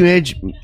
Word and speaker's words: Minaj: I found the Nicki Minaj.